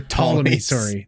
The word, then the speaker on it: Ptolemy: The Ptolemy, the Ptolemy's. The P is silent.